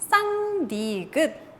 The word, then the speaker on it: 쌍디귿: 쌍디귿.